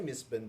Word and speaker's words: Mistbourne: because I mean it's it's obviously misbin because of melbour uh you know that's the way that we pronounce Melbourne uh and uh there is